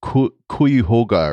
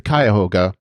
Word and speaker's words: Cuyahoga: of the uss cuyahoga she said something like hoga or something and of course that is the cuyahoga and of course i